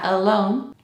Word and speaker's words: alone: No, es alone, Este sonido no existe en español. Por lo tanto, entiendo la dificultad de pronunciarlo bien. Pero no es un A, es un como cuando no sabes algo.